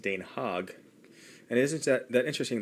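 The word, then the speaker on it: Den Haag: the Netherlands and they speak Dutch and it's pronounced Dan hog and isn't that that interesting that this is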